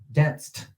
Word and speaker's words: danced: The ed on the end are basically, it sounded like a T. Danced.